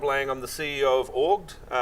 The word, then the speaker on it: Auggd: I am rob laying on the CEO of org it's pronounced Borg we are that short for augmented